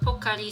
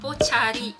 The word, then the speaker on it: Pocari: called pocari sweat but when i first saw this when i my first street go to japan i was thought is spelling like pochari because malay pronunciation we say with the card like ciao yeah it doesn't say with car like english pronoun so i always thought it's pochari sweat i said well that's